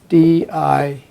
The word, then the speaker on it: Dijkstra: ago um edsker dykstra it's d i j k but it's pronounced dijkstra so it's ed edgar